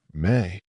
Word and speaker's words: me: He offers her the me, pronounced me.